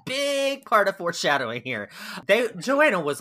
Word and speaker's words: Johanna: We're just gonna call him Christian August, Prince Christian August, and his young wife Joanna, or I've also heard it pronounced Johanna.